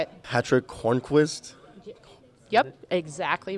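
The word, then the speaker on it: Hörnqvist: how do you think he say it Patrick Horne Quist yep exactly right what about the second one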